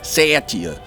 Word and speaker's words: Satya: means truth in Hindi generally gets pronounced every possible way except for the correct way Satya sit yeah Sashi oh so cool